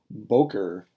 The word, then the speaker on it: boker: Morning, boker, boker. It's accented on its first syllable.